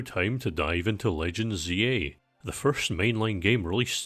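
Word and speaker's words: Z-A: By the way, I say Zed in day-to-day life, but the game's pronounced ZA, and so I don't mind using it in this context, similar to how it would sound weird to say Dragon Ball Z.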